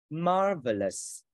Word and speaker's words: marvelous: Marvelous. Marvelous. Ba âm tiết nhấn âm 1.